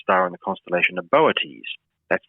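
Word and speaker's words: Boötes: is the brightest star in the constellation of boates that's not a constellation most people are familiar with moieties it's spelled b-o-o-t-e-s and it means the herdsmen or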